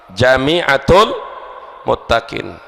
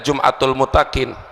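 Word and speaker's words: جامعة المتقين: Jami'atul Muttaqin itu perlu diluruskan, Jami'atul Muttaqin. Kalau itu bacanya Jum'atul Muttaqin, jim isim fa'il, fahuwa jami'un, jami'un fahuwa jami'un, mu'annas Jami'atul Muttaqin, tempat mengumpulkan orang-orang yang bertakwa.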